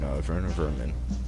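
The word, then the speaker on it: Werner Werman: And we're going to be fighting Werner Vermin. I know it's W's, but his name is German, so we pronounce the W's like they're V's.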